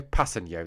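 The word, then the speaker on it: Kpassagnon: Passeno. That's apparently how you say it. That's according to Wikipedia.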